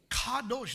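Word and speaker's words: קדוש: Kadosh, the Hebrew word for holiness is kadosh. It is spelled with a Q.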